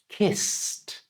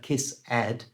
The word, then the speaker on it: kissed: words they match so this word is pronounced kissed hear the T at the end remember never add it's never kiss add it's just kissed you try and in